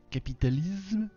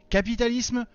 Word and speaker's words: capitalisme: fantasme vous l'aurez compris capitalise complotisme fantasme alors non en français un S prisonnier entre une voyelle i ou a et une consonne m se prononce ce capitalisme fantasme je sais pas moi